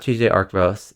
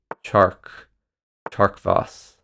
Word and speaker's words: tjarkvos: on pronunciation here um it's not tj arcross it is chark tarkfoss our teammate in this